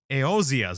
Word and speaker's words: Eosia: Ooh, Eosias. There you go. That's how you say it. Jesus, I don't know why I was saying. Oh, it's because the E wasn't in there.